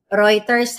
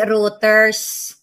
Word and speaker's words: Reuters: Reuters ha. Hindi routers.